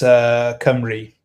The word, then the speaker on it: Cymru: It's Cymru. That's how we pronounce Camry.